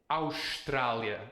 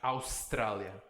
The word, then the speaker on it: Austrália: Why is it Australia and not Australia? Because it is the end of the syllable. Because this S is at the end of a syllable. Australia. You're gonna hear a lot of sh's here in Portugal, because an S at the end of a syllable is sh.